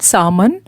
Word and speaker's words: salmon: Chaman, L is silent, salmon, rainbow trout or tilapia growth hormone gene.